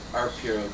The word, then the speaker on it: Arpaio: No, I'm sorry, I mispronounced it. Judge Arpaio, Joe Arpaio.